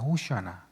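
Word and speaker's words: הושענא: 그래서 그 예수님을 향해 호산나 찬송하리로다. 호산나 호산나 이렇게 외쳤다는 거죠. 어, 호산나의 히브리어 발음은 호아나입니다. 호슈아나.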